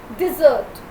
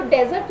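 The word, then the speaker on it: dessert: Pronunciation सीखो, डिज़र्ट। इसको डेजर्ट नहीं बोलना, इट्स डिज़र्ट।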